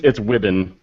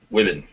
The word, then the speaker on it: Wibben: It's Wibben. Wibben. Okay. Right. Yeah, I don't know. Completely Everybody gets it with a long E, and I'm like, I'm not really sure where you got the E at.